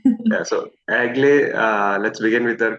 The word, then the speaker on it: Egle: just want to say my name is pronounced like for anybody yeah it's it's Lithuanian a little bit different so but Eagle is okay yeah so agle uh let's begin with